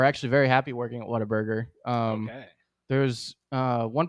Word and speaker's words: Whataburger: it Mike oh uh when I was a kid it was Water Burger yeah uh but it is Water Burger is the correct way to say it it's it's the